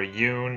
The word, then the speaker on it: Yune: Now this time I'm going to be obviously talking about Yune, or Yune as she's meant to be pronounced, even though that sounds really stupid.